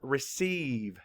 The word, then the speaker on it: receive: And we actually hear more than one E sound in this word. And the first one is just spelled with a long E because it's an open syllable.